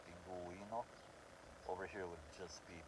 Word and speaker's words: pingüino: Same thing for pingüino, you're hearing the U sound, pingüino. Over here would just be pinguino.